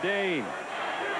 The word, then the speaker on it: Dayne: That's Dayne, one syllable.